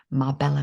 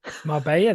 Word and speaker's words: Marbella: Marbella then, not Marbella. Didn't I say Marbella? It's not spelled like Marbella. It's spelled like Marbella. Yeah, but that's because that's Spanish Y, isn't it?